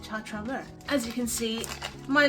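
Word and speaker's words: ChaTraMue: I used to pronounce it Cha Cha Mui because that's how it's phonetically spelled if you say it phonetically in English, but no, apparently you pronounce it Cha Cha Mua.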